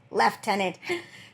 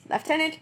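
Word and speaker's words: lieutenant: the f is like there's no F in here left tenant but yes left tenant right tenant England is weird man I say that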